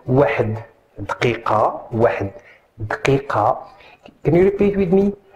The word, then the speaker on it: دقيقة: واحد دقيقة. Can you repeat with me? دقيقة دقيقة دقيقة.